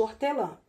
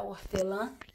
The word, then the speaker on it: hortelã: Não sai o sonzinho do H. Sabe por causa de quê? Porque o H, ele é mudozinho, ele não tem som. Então por isso que só sai o sonzinho do O.